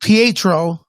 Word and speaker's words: Pietro: we go there you go uh yeah it's pronounced pietro uh that's the name for for uh quicksilver